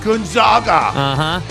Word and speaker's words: Gonzaga: Gonzaga. One of the most controversy on the show. Right. Hey, Monty, it's pronounced Gonzaga.